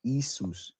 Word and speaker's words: Jesus: Jesus. Brother, it's pronounced Isus.